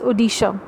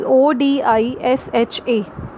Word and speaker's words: Odisha: The spelling of Orissa has been changed and the pronunciation is called as Odisha. It is Odisha.